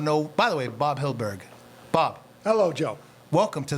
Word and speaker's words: Hyldburgh: So for those that Bob does not know, by the way, Bob Hyldburgh.